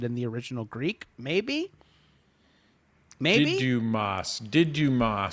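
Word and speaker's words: Δίδυμος: Didymos is how you say it in Greek, according to Captain Bree. Didymos.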